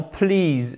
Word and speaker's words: please: Please, c'est un « i » long.